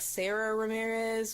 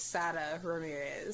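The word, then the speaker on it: Sara Ramirez: i can't pronounce it i guess it looks like sarah ramirez but it's sada ramirez oh she's special i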